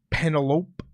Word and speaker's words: Penelope Ford: but a good one that's not how you say her name say the way you say it Penelope shef's a kiss Penelope